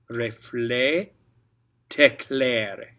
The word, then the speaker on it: reflet t'éclaire: Reflet, t'éclaire. T'éclaire. Okay, and the reason we're pronouncing the T, again, normally you wouldn't pronounce the T at the end of reflet.